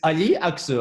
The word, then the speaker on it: Ali Aksu: It's Aya Aksu. I'm going to pronounce it right. Aya Aksu.